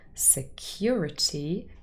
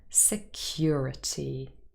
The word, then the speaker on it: security: last word was security security contains four syllables sir cure t and or is in the second syllable security security let's see them